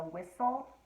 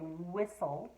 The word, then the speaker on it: whistle: a whale with a whistle yes you are totally right and the both of these are wh that h is silent you don't hear it when i say whistle or whale do you oh sneaky word all